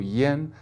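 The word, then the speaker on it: yan: Now we've got the, let's say, the 10A. It's got the same pronunciation as the E in 10, and of course the E in the Mandarin pronunciation, yeah. And you'll only hear A pronounced this way in Chinese for this particular syllable, yen, and another syllable, which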